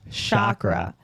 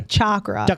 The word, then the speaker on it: chakra: how to say know I pronounce it sh Shakra but I hear people say chakra okay no no and that's fine like tomato tomato but a chakra is